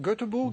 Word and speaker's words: Göteborg: Yeah, we say in Hebrew Göteborg. Is it correct? That's correct. Göteborg would be Göteborg. Okay. Would be the correct pronunciation.